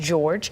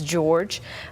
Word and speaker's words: Jorge: Police provided to us that's the traditional spelling for the Hispanic name but it is sometimes pronounced George and that is certainly how we're hearing it pronounced now as George um and and right